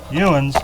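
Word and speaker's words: youns: Ewins, not yins. Ewins is the correct way to say it. Yins is what them there city slickers say. Y-I-N-Z. See, it's Y-O-U-N-S. That's what's supposed to be.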